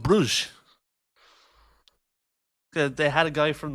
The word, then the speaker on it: Brugge: Oh yeah, first question: is it Brugge or Bruggs? It's Club Brugge.